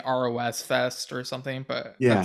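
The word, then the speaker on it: RoSfest: in parentheses he says by the way you can pronounce it as Ross Fest I guess because on the episode I was saying Ros Fest or something but yeah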